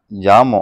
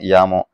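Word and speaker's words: Jamo: ஸோ அடுத்து speaker பேக்கேஜஸை பொறுத்த வரைக்கும் பார்த்துட்டிங்கன்னா 5.1 பார்த்துட்டிங்கன்னா ஜாமோ, அதாவது சொல்லும் போது நம்ம ஜாமோன்னு சொல்லுவோம், இதோட உச்சரிப்பு பார்த்தீங்கன்னா யாமோ.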